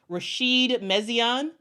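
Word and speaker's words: Rachid Méziane: always uh mess up on his on the pronunciation of his name it is uh Rasheed mesan uh Rasheed mesan was formerly the head coach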